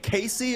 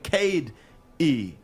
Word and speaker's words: Casey: Is it Coach Dwane Casey or is it Coach Dwane Cade E? No, I don't know that second name.